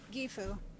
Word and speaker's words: Gyfu: So can you just give me the pronunciation of the dream name again? Because I've really struggled with the name. Zakova obviously is not the problem. This the other one. Gyfu. You did say it right initially.